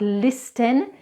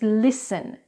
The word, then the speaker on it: listen: so let's go back to those words it's not listen its listen it's not fasten and it's fasten.